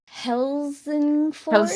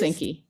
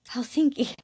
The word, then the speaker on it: Helsinki: The the capital city, Hillsen Forest, Helsinki, Helsinki. Oh, of course. Um, I I was just trying to read it and wow, that's really different pronunciation than it looks like.